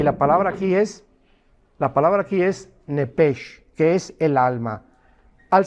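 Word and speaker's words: נפש: ahí arriba de alma la palabra nepesh, como suena. Nepesh con SH, como suena, que es la palabra en el hebreo para alma.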